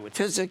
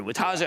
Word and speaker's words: Wojtaszek: It's Gary Wojtaszek, Gary Wojtaszek. I said, let's just get it right. Just learn how to pronounce it as well.